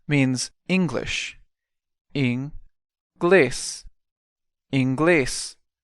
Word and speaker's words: inglês: The next word, inglês, means English. Inglês. Inglês. Notice again the stress is on the last syllable.